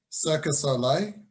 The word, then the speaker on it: Cirque du Soleil: And another example of it that I was just about to touch on is Cirque du Soleil. That's how you pronounce it.